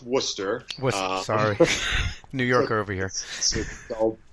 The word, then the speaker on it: Worcester: pretty fun cool you're now you're build from Worchester and that's not actually where you're from is there a reason why you picked that town yes um it's actually pronounced Worcester sorry New Yorker over here you know very